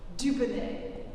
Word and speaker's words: Dubonnet: And then he realized I'm a genius, because phonetically in French, du beau looks good, du bon tastes good, Dubonnet, the name of the brand.